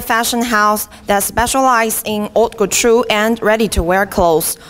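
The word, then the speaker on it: haute couture: house that specialized in Auto true and ready to wear clothes luxury goods and fashion accessories and he wrote patru is a French vocabulary the ash doesn't pronounce it means the high-end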